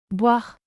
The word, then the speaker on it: boire: The French word, Boire. which means to drink, is pronounced as boire, rhymes with car, but with a slight wove sound.